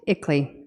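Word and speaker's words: ICLEI: on local environmental initiatives that acronym is pronounced ickley the international Consulting Group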